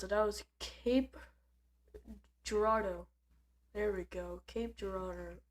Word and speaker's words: Cape Girardeau: But I mispronounced it. That was Cape Girardeau.